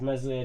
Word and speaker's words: Meslier: It's hard to have a young aspiring keeper, I suppose, when Meslier Silent S is the young aspiring keeper.